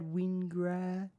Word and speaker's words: Wingard: How do you pronounce it, Jamie? Chad Wingard.